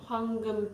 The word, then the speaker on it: 황금: 황금 빛으로.